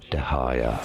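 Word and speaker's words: Dehya: Dahaya, it's how it's generally pronounced. Dahaya, and now you know more videos for you here to learn more. Dahaya. So apparently her name is Dahaya, which is pretty appropriate since she's since she's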